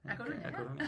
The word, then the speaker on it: A Coruña: So basically we are here in Spain today in A Coruña. A Coruña. Am I saying it right? A Coruña, Okay, yeah.